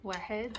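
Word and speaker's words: واحد: Wahed.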